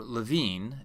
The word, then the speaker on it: Lewin: of change management upon Kurt Lewin or Levine as it should be pronounced in the original German was a great pioneering